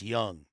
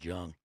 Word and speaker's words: Jung: That's right, the best in uniform, the greatest fucking psychiatrist since Jung. He pronounced the J. Oh, so he says Jung.